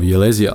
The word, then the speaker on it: Ylesia: spice production colony of Ylesia [pronounced yl-eezh-iah].